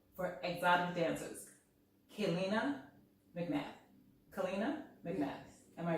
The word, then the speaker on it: Kaleena: Kaleena McMath. Am I pronouncing your name right? Kaleena. Kaleena.